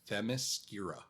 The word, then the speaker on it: Themyscira: No, there's no R before the M. It's Themyscira. Okay.